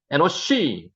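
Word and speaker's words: אֱנוֹשׁ: 에노시. 읽을 때는 에노시라고 읽었습니다.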